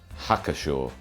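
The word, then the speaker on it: Hacker-Pschorr: of added value and go through the official pronunciations for these German beers. Spaten, Spaten, Paulaner, Paulaner, Hofbräu, Hofbrau, Löwenbräu, Lauenbrau, Hackepeshor, Hackashaw, Augustina.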